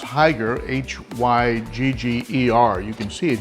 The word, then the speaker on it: Hygger: I guess it's pronounced Hygger, H-Y-G-G-E-R.